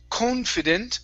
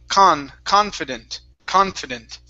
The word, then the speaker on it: confident: is right here so instead of saying confident con it's confident confident one more time confident